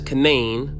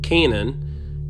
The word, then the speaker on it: Canaan: Locally pronounced as Canain rather than the biblical pronunciation Canaan.